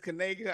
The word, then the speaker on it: Kanega: Please make sure you pronounce that as Kanega.